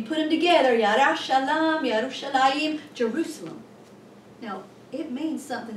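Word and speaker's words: ירושלים: In Hebrew, it's like Yerushalayim. Ooh, that, you just say it like that and just, ooh, Yerushalayim.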